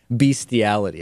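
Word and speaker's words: bestiality: beastiality yesterday or beastiality and my pronunciation of it is think beity I think I am saying beity or something along those lines even though the correct pronunciation is beastiality I will be beastiality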